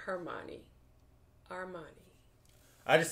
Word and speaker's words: Hermione: You know, with Imani, Ron Weasley...